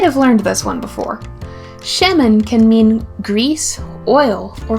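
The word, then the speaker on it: שמן: using have you ever cooked with olive oil sheman is spelled Shin me nun let's say it together sheman the Hebrew word for bake is AA M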